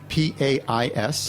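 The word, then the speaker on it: País: The grape is Pais. Spell it. P-A-I-S. Like country. Pais. Like country, right.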